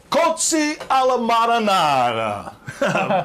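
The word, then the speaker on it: Cozze alla marinara: It's pronounced Cozzi alla Marinara.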